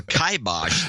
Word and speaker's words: kibosh: The kibosh or kibosh, as some people would like to pronounce it.